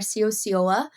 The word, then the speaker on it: Ciociola: But I'm Sio.